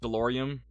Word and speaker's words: DeLorean: I finished a mini Metal Earth DeLorean, and my dad got the Bookends library for my birthday. Oh, that's sweet. I don't know why I pronounced that with an M on the end, but it's DeLorean.